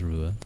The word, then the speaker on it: Ruadh: I love the DH throws a lot of people, I imagine. Yeah, it's often Ruadh. Which isn't... actually, yeah, Ruadh wouldn't be that bad, but it's often like Ruadh.